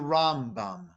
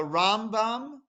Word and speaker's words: Rambam: that the emphasis is put on the first syllable he's known as the rambam whereas nakhmanides emphasis on the second syllable he's